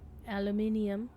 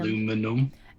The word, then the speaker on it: aluminium: Aluminium. You'll say it wrong. It's aluminium. Aluminum. Aluminum. You're aluminum. You're forgetting a whole ass syllable there, sir.